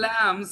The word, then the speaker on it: lamb: Also, the newborn lambs sometimes, lambs, be silent. B is L-A-M-B? S. Lamb. No B, no B, lamb.